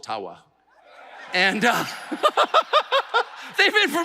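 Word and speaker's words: Ottawa: thank you and I I called it atawa many many times and I get these outrage there you don't even know enough about our country to pronounce the name correctly and of course it was intentional until I received a very sincere email from an ajua First Nations leader who said actually it's it's called aawa and uh they've been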